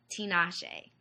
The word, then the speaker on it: Tinashe: Tinashe.